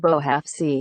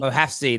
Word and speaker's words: Bouhafsi: It's pronounced Mohamed Bouhafsi. Bouhafsi. There we go. I always get it wrong. Bouhafsi.